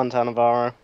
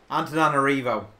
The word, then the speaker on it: Antananarivo: Hello, Antannavarro. Antananarivo, That one.